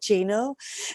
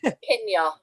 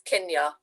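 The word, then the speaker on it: cinio: Because I'm about to say Chino. No, it's Kinya. It's a hard C, so it's Kinya.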